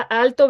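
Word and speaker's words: Aalto: por la universidad de al lado del ala alto verdad así se se pronuncia verdad así es y bueno en la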